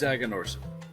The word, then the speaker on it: Aganorsa: Because it's Aganorsa. Aganorsa.